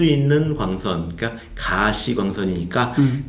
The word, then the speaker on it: 가시광선: 근데 나중에 이제 보면은 이게 visible light, 가시광선이니까 볼 수 있는 광선, 그러니까 가시광선이니까 가를 길게 발음했어야 되는구나.